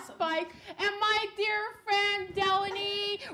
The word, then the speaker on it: Delaney: And my dear friend Delaney rhymes with felony.